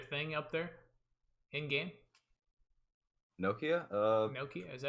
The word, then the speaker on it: Nokia: Nokia?